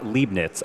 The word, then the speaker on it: Leibniz: Oh, it's pronounced Leibniz.